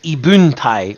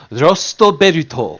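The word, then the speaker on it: 異聞帯: So Ibuntai is not how you say it because the Furigana say Rosto Beruto, or lost belt.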